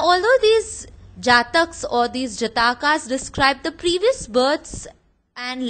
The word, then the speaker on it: Jataka: The next source throwing light on Buddhism is the Jataka tales, or as some pronounce, the Jatak tales.